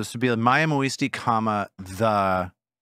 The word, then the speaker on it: muisti: Let's go muisti.